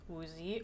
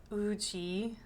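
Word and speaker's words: Woozi: Next is Uzi or UI as it's supposed to be pronounced.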